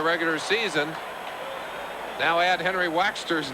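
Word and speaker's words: Waechter: He said, "It's Waxter, just like Beeswax." And so, Henry Waxter, congratulations.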